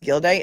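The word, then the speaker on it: Gildea: And so, my understanding is that Judge Gild Day, Gild Day, right? GDA, but it's pronounced Gild Day, is going to be taking over.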